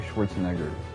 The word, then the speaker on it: Schwarzenegger: I had to make pronouncing Schwarzenegger weird by not having the R. Let me try to say it the right way. Schwarzenegger.